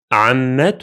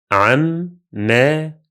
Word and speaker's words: عمة: Ta Marbuta is pronounced as T sound whenever it's followed by another word.